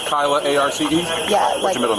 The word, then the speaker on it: Kyla Arce: Spell it for me. K-Y-L-A-A-R-C-E.